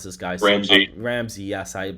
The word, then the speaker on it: Ramsey: How do I pronounce this guy? Ramsey.